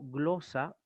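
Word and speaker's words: γλῶσσα: La doble sigma se va también a leer como una sola E sigma, como una sola S castellana.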